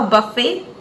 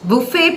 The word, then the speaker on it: buffet: is it Buffet a buffet it's Buffet pronounced by the British and Buffet by the Americans so you can pronounce